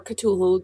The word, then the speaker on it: Cthulhu: making the call of cthulhu whole mittens or katul depending on how you pronounce it and i don't know